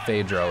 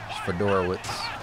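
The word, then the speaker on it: Fiedorowicz: It's not Phaedro. It's Fedorowicz.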